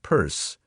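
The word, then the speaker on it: Pierce: She had one president, pronounce him Purse, and make the most of it for better or worse.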